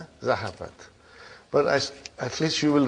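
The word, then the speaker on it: ذهبت: How do you pronounce it? Zahabat. Zahabat.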